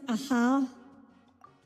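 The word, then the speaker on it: Ajaw: It's pronounced aha.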